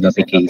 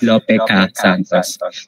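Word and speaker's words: Lope K. Santos: You said Lope K supposedly ang binabasa siya as Lopeca Santos. Nagfa-follow siya ng Aada system.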